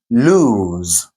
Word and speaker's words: lose: Okay, the first one here is lose with a long oo vowel. Lose.